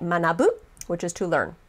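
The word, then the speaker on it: 学ぶ: be the onyo me but the kung yomi the one that you combine with hiragana usually to make a verb or an adjective in this case you could add more hiragana characters and make it manabu which is to learn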